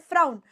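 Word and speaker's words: frown: इस called is called फ्राउन लेकिन वही अगर मैं वर्ड लिख दूं नोन तो उधर ये साउंड ओ की हो जाएगी और इधर ये साउंड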